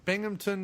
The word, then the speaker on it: Binghamton: How do you pronounce that? Binghamton? Binghamton, New York.